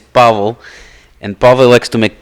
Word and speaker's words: Pavel: Okay, I say Pavel. But one of the many names. The correct pronunciation of the name is Pavel.